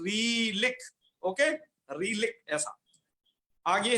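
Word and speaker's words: ऋलृक्: मेरा थोड़ा उच्चारण सुनिएगा, रीलिक।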